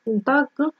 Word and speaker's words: Tag: Tag произносится как к. Так.